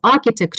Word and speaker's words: architect: alien flying sauce yeah architect yeah the right pronunciation is architect who designed it yeah okay so which question